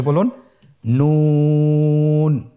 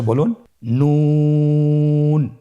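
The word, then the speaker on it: نون: আপনারা আমার সাথে বলুন নন। আরেকবার চেষ্টা করুন নন। নূর হরফটির উচ্চারণ স্থান হচ্ছে জিহ্বার আগা তার বরাবর উপরে তালুর সঙ্গে লাগিয়ে উচ্চারিত হয়।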